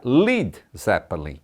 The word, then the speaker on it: Led Zeppelin: que em inglês seria Led Zeppelin. A banda gostou tanto da imagem que fizeram na cabeça que adotou o nome, apenas retirou o A de lead, para não ser pronunciado como leader, e ainda assim usou